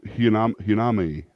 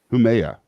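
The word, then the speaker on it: Haumea: Yeah, Hinami, or I can never say her name right. Humea, that's what it is, Humea.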